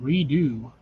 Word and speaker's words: Redux: what the hell postal redo it's technically Redux but it's pronounced redo yeah I know I